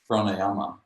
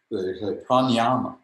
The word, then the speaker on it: pranayama: And so there's this funny mispronunciation of pranayama, and they say pranayama. So prana or pran is prana, and yama means to kill or to hold down, to control. And the actual word is pranayama.